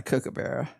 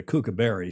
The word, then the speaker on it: kookaburra: I said, it's not a kookaburra. How do you pronounce that, Julia? That is a laughing? Kookaburra. Kookaburra. I've never heard us call it a kookaberry, certainly not on this show.